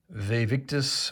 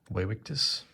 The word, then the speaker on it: Vae Victis: widowichi then evadevg uh the v's are pronounced like w's so waywictus i guess um this